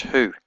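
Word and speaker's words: هو: a little dot in it Al and it's pronounced who and it means he but in this context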